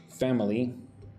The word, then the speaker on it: family: Uh, well, this should be Does does your family eat together? Again, with family, I say it like two syllables. Family. Family. Family. Family. Two parts, right?